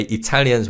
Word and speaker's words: Italia: And the name of Italy is similar to Belgium in that we Koreans say it the way Italians would say it. So, it's Italia.